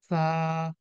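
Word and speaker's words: ث: কিভাবে উচ্চারণ করেছেন আপনি আমি জিহ্বার যে আগাটা আছে এটা নিচের দাঁতের সাথে মিলিয়ে আরকি একটু হালকা মিলিয়ে উচ্চারণটা করেছি হ্যাঁ জিহ্বটাকে সামনে রেখে আমাদের সামনে যে দাঁত রয়েছে সেটার সাথে স্পর্শ করে এবং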